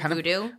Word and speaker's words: Vudu: But is that how you say it? Voodoo? Yeah, the VU. VUDU. Yeah. We do buy our stuff on Voodoo.